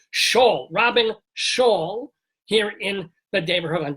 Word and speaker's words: Robyn Schall: By the way, we're talking with ROBYN SCHALL. No, I pronounced it wrong there. ROBYN SCHALL.